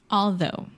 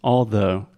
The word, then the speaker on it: although: something like but it's although although so in this case the GH totally silent yeah although okay and